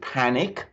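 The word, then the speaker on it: Pannick: One is Lord Panic. Actually, I know that sounds a bit bizarre, but his name is spelled Panick, and he's a very brilliant lawyer.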